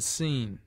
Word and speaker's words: scene: t i c k because SC is sounded like s as in scene it is used before